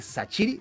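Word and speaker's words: Shaqiri: 28 goles y 31 asistencias desde que Sachiri, sí, así se pronuncia.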